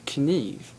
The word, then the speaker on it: kniv: But basically, the Swedish word for knife is kniv.